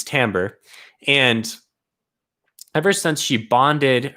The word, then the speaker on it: Timbre: But since she bonded a Reacher Spren, which is the Spren of the Will Shapers, the Spren is called Timbre, not Timbre. Know how to pronounce words. So it's Timbre.